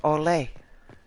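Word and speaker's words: Orlais: thing that you're uh orlay oh that's um that's because it's based on French because if o r l a i s in French you just wouldn't pronounce the S at the end there's there's some spelling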